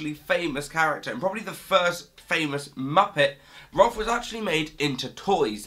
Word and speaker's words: Rowlf: But then Rolf pronounces his own name as it's spelt with an owl sound, so it ends up sounding more like Rowlf or Rolf, but like Rowlf. So it's not Ralph, it's not Rolf, it's Rowlf.